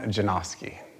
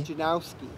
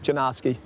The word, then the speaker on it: Janoski: Stefan Janoski. And what pronunciations do you usually hear? Oh, Stefan. What do you say for the last name? Janikowski? Janowski. Yeah, there's no W yet, Janoski.